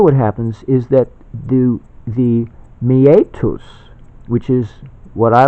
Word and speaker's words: meatus: happens is that the meatus, which is what I like to call the urethral opening, meatus is spelled M-E-A-T-U-S. So it's kind of meet us. You know, meet up. Well, this is meet us.